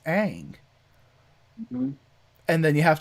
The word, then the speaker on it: Aang: Night Shyamalan going like, yeah, but in East Asian countries, it's pronounced like things like that are like aw. So Ong makes more sense.